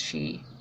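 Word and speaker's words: sidhe: and she s idha it's spelled CID like s idhe but it's pronounced she and the elementals the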